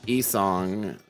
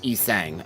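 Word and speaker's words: Yi Sang: Also, I think E-Song, the song sounds like he sang. Because the Korean, oh, so it is sang. Okay, I assumed it was like song. I didn't think it was gonna be pronounced sang. So it's E-sang.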